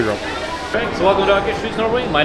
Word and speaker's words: Akershus: Hello everybody, Prince Barry here, and we're back at EPCOT because Akershus is reopened in Norway.